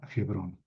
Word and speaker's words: Hebrón: Más bien hay que pronunciar Hebrón porque esa H se pronuncia. Eh, Aquí está Beersheba, en el sur, donde estoy poniendo la manita. Acá está Hebrón.